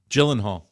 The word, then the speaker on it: Gyllenhaal: you I'm I think this should be a pronouncer of his name Mike hold on Jake Gyllenhaal Gyllenhaal okay Josh is Right Gyllenhaal Jake Gyllenhaal yeah that's Carrie Jake Gyllenhaal thank